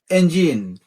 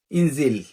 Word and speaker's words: engine: Next, ইঞ্জিন। শব্দটা কি? ইঞ্জিন, বাট আমরা কি বলি? ইনজিল। আমরা একদম মূর্খদের মতো বলি ইনজিল। সো ডেফিনেটলি এরপর থেকে আমরা এই উচ্চারণগুলো করব ইঞ্জিন।